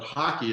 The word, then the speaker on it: hake: a hockey brush h-a-k-e it looks like the word hake h-a-k-e but hockey is how it's pronounced at least at least